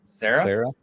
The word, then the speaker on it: Cera: Sarah? Yeah. Michael Cera, like he is amazing as Scott Pilgrim because